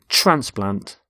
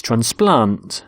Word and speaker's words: transplant: both nouns and verbs we stress the first syllable in a noun and the second in a verb verb so the noun is transplant so a heart transplant but with a verb it's transplant so the doctor transplants